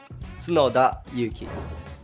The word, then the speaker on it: Tsunoda Yuki: It's opposite actually, saying Tsunoda Yuki.